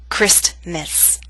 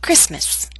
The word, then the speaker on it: Christmas: Never say Christmas, only Christmas.